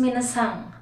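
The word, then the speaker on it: 皆さん: Ladies and gentlemen, all of you or everyone means minasan. The spelling is minasan, but sometimes yung pronunciation nila is minasan. Nagkakaroon ng G sa dulo.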